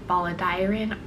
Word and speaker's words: Balladairan: to become part of the Baladirin army, I believe that's how you pronounce it.